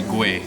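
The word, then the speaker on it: Güell: definitely not because I didn't know how to pronounce it earlier so the actual right way to save is gray that's for the double health at the end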